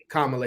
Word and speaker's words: Kamala: Kamala, Yeah.